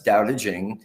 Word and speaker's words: Tao Te Ching: to look at tonight stephen says doubta jing pronounced more or less doubting can be translated as